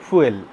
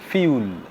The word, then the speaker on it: fuel: a lot of people they pronounce that word fuel but in fact this word is not fuel it is called fuel fuel right fuel and i